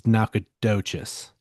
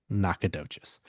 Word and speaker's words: Nacogdoches: the town, but yeah, they they do pronounce it different. So, this is Nakadocious. Yeah, Nakadocious.